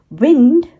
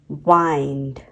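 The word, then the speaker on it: wind: उसे कहते हैं बाव लिव लिव एंड लाइव विंड वाइंड अ विंड की स्पेलिंग सेम है लेकिन उसे दोनों अलग-अलग तरीके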